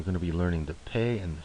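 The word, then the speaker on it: פ: will be the pay so the doish in the middle it will have the pronunciation equivalent to the English P without the doish it is the Fay and the Fay is the equivalent of the English F and as a general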